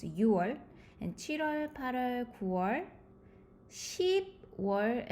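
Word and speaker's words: 유월: So difficult to pronounce. So you have to use U instead of 6. So it's 6월.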